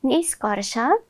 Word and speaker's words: निष्कर्ष: अब यहाँ भएको चाहिँ यो स आए पनि हामीले उच्चारण चाहिँ यही स गर्छौँ। त्यस्तै गरी मोटो स आयो भने पनि हामीले उच्चारण यही पातलो स गर्ने भएकोले हामीले यहाँ पातलो स लेखेका छौँ।